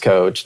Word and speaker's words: Koch: put on your billboard my last name is spelled coach I mean it's pronounced coach spelled k and I think that